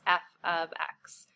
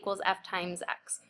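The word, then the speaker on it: f of x: And this is how you say this. I'd recommend just writing it down because it's not y= f x, which is what we're kind of accustomed to from our previous math classes.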